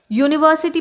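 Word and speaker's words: university: यूनिवर्सिटी में spelling तो यू से शुरू हो रही है, लेकिन साउंड इसमें कॉन्सोनेंट है, इसीलिए हमने अ यूनिवर्सिटी लिखा है।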